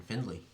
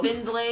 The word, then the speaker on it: Findlay: Is- Findlay, you pronounce the D.